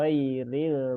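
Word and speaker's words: غير: Maka Oh, ghairil mau bu ya, mau Ustadz, ya.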